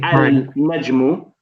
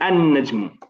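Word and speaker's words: النجم: We don't say al-najmu. We don't say al-najmu. We say an-najmu. We don't pronounce the alif and we don't pronounce the lam at least, and we put a shadda on the noon.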